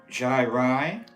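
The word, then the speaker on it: gyri: The words are pronounced Jai-Rai Jai-Rai, okay. and Sulkai. And Sulkai.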